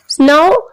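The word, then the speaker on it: know: No में K silent है.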